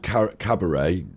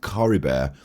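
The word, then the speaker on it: Caribert: so it's not called Cabaret this episode I thought it was Cabaret it's Curry bear how dare they put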